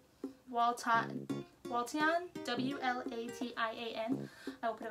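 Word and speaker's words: Wlatian: But it is like it's a weird one to pronounce. It's Waltian, W-L-A-T-I-A-N.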